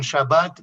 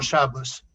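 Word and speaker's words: שבת: En Israel adoptaron la escritura eh yidish, la escritura asquenazía eh y la pronunciación se faradía. Dicen shabbat y no shabas.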